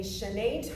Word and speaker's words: chaîné: Hey dancers, in this video we are going to break down both a chaîné turn and a piqué turn.